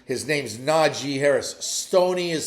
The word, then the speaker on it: Najee: All right, just like I keep reminding you that his name is Najee Harris and not Najee. His name's Najee Harris.